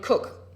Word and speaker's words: Coke: very good effect by this man sir Edward cook um I was always annoyed as a law